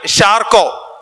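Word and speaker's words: Charcot: അല്ലെങ്കിൽ ന്യൂറോളജിയുടെ അവസാന വാക്കായിരുന്നു ഷാർക്കോ ഷാർക്കോട്ട് എന്ന് നമുക്ക് സ്പെല്ലിംഗ് അനുസരിച്ച് വിളിക്കാം ഷാർക്കോ എന്നാണ് യഥാർത്ഥത്തിലുള്ള ഉച്ചാരണം എന്നാണ് ഞാൻ മനസ്സിലാക്കുന്നത് 1887ൽ ആൻഡ്രേ ബ്രോറ്റ് എന്ന്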